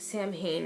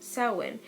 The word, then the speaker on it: Samhain: Oh though it looks as if it is pronounced Samhain and this actually pronounced saawan and the term dates bats the ancient Celts